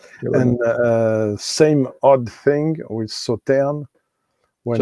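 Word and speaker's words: Sauternes: And same odd thing with Sauterne. When it's after E, you don't pronounce the S. So it's not Sauternus like some say, it's Sauterne.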